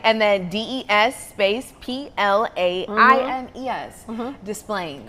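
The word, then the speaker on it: Des Plaines: Displaying.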